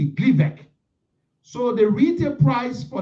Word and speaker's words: Gleevec: Gleevec. Gleevec. So the retail price for this drug is $2,502.50 for Gleevec, the original drug or the brand drug.